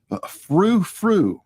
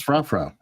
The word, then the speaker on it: Frou: It's Frou. Who's Frou Frou? Oh, this guy. Yes, bye Frou rhymes with choo choo.